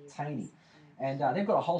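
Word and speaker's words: Thoene: It's pronounced Taney, but it's sort of doesn't look anything like it. T-H-O-E-N-E. And Thaney, is that right? Thaney is how it sounds, but it's pronounced Taney, isn't it? Taney.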